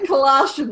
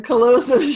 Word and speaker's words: callosum: Not the colostrum, the callosum. I know, I said it wrong again.